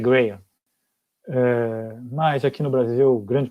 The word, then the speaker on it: Graham: Eu chamo de Graham, porque grande parte das pessoas chama de Graham, mas algumas pessoas chamam corretamente de Graham. De fato, a pronúncia correta é Graham.